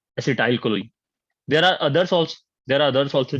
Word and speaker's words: acetylcholine: The spelling might be wrong. The pronunciation is acetylcholine.